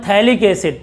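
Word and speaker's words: phthalic acid: बच्चों जब 2 COOH हो बेंजीन में तो इसका नाम है, सुन लो, इसका नाम है थैलिक एसिड, पी साइलेंट है इसमें, पी साइलेंट, इधर देखो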